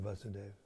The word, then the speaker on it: Vasudeva: There's no long A in Vasudeva.